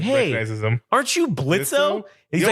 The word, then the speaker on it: Blitzo: like, "Hey, aren't you Blitzo?" And he's like, "The O is silent, asshole."